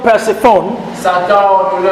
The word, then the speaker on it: Persephone: Now, certain other demon named Persephone. Satan a ordonné à un démon appelé Perséphone. Persephone Perséphone is spelled est P-E épilé, P-E, R-S R-S, E E, P-H P-H, O-N-E.